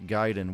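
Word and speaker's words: Gaiden: about video games uh giden is spelled g a Deen gaming Guiden we're on YouTube and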